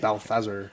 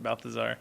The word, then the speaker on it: Balthazar: to a demon cat named Balthazer as they not Balthazar but Balfazer. I was very mad they didn't pronounce it Balthazar.